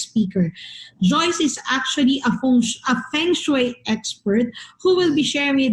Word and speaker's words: feng shui: introduction to feng shui actually uh the correct pronunciation is feng shui now um the feng